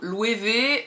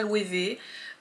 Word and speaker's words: Loewe: en fait que donc louer V vu que c'est un nom allemand mais prononcé à l'espagnol on sait jamais trop comment ça se prononce moi maintenant je prononce ça louer V bon je pars du